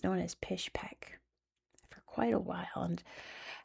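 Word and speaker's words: Pishpek: develop the area, but in Russian they pronounced it Pish Peek. So, it's known as Pish Peek for quite a while and I still found some places here called Pish Peek.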